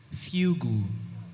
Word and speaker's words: fugu: Your word is fugu.